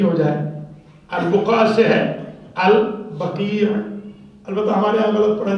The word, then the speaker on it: البقیع: کرنا چاہ رہے ہیں۔ تو البقیع ہے، لفظ جو ہے البقیع ہے، جنت البقیع۔ دوسری بات، دوسرا میں